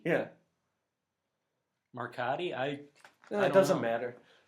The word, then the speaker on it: Marcotte: How do you pronounce that? Marcotte? It's not Marconi. We're not... It's Marcotte. Yeah. Marcotti?